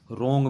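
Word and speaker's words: wrong: रोंग में डब्लू की साउंड नहीं आ रही तो डब्लू हमारा साइलेंट है।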